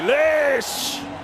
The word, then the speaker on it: Lish: Freddie Lish rhymes with delish, I guess.